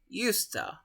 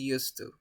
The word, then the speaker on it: used to: give a presentation so guys when eusta is at the beginning or in the metal we pronounce yusta usta but when this war is at the end of the sentence or your speech you pronounce it used to an example if somebody